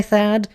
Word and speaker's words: Thad: Most people just call me Thaad. I go by Thaad and most people call me Thaad.